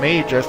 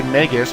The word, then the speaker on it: Magus: Officially, it's pronounced Magus, like the month May, M-A-Y, so Magus. I made to say Magus because I'm so used to that pronunciation from the Chrono Trigger games.